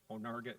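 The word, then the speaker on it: Onarga: It will make sense to you if I spell it. It's O N A R GA. Onga, Illinois.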